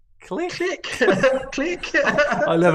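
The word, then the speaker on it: Klich: He says you've got to say click, but in a Scouse accent.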